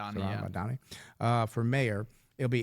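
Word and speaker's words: Mamdani: Zaran Mdani, is that how you say it? Zoran Mdani. Zoran Madani.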